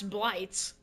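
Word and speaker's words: Blitz: it's blights no it's it's the Germans let's pronounce blights yeah yeah Val Chi Rai is American so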